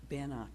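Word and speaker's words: Beannacht: Banach, thank you.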